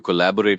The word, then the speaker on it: collaborate: And the bore part can sometimes sound like burr, but it's bore as in boring.